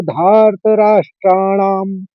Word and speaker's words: धार्तराष्ट्राणाम्: स घोषो सीधा सीधा है, और धार्त राष्ट्राणाम म मैंने म का अनुस्वार है, तो ह से शब्द चालू है, प फ ब भ म। तो इस तरह से आप म का उच्चारण वो अनुस्वार लेंगे। तो पहले ही चरण में इस तरह से उच्चारण करेंगे। स घोषो धार्त राष्ट्राणाम। म हल्के से बोलना है, हस्व बोलेंगे।